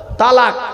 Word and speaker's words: তলাক: শব্দরা বলেন তালাক, খবরদার শব্দটা তালাক নয়, তালাক নয় শব্দটা, শুনে যান। শব্দটা হলো তলাক। তলাক কি বললাম? তলাক বলো। আরবি উচ্চারণ কি? তোয় লামালিপ কফ। বাংলা উচ্চারণ কি? তয় বয় লয়াকার ক।